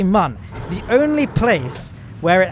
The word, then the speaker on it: Mun: So now people are thinking, oh, he's finally pronouncing mun correctly because mun has an umlaut above the U. And no, it doesn't. All the endgame descriptions and indeed the squad staff, they all say mun.